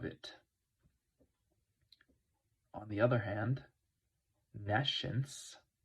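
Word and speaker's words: nescience: on the other hand nence is NE science that's how it's spelled nence the lacking of knowledge this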